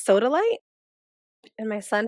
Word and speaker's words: sodalite: the longest time I thought one of the stones was solidite but it's sodalite and my son T